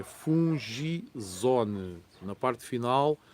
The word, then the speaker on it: Fungizone: De mentirinha, fungizona o que é assim que se escreve, não, é fungizone.